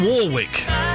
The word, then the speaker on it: Warwick: dream that it's Dion Warwick you pronounce the second R it's it's a it's not an invisible r w w it's too